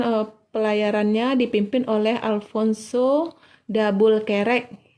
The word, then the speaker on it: Albuquerque: pelayarannya dipimpin oleh Alfonso dabul kerek Kalau tulisannya Alfonso Albuquerque tapi dibacanya adabul Terek jadi Alfonso dabul kerek melanjutkan pelayarannya dari India